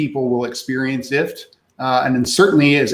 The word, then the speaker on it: IFTTT: how do you pronounce ift well like that if we we like to say it's like gift without the g um but if it's